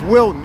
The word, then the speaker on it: Wilton: L it's pulling out there yeah it's Wilton I said it wrong Wilton w l t